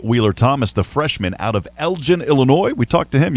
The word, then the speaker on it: Elgin: bit of trouble because there's a town in Texas called Elgin, Texas, so I had to make sure I said it right. It's Elgin, Illinois. Is that right? Yes, sir. Elgin, Illinois.